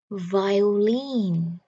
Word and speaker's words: violin: Có nhiều người đọc là violin. Nhưng mà bây giờ các bạn nghe mình đọc và phát âm nha. Violin. Trọng âm nằm ở âm cuối.